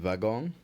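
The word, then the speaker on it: wagon-lit: spelled l for and vagon W sorry WV i o n hyph l e t that's vagon Le remember for thison the W is pronounced as V but when you're spelling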